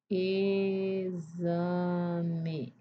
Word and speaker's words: exame: Exame. Exame. Nós temos também outra palavra táxi, que se escreve com X é de KS. Aqui o X de exame é som de Z.